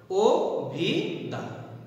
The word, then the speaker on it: অভিধান: এরকম যদি আরেকটি বলি অভিধান, অভিধান না হয় কি হয়, অভিধান, ও ভি দান।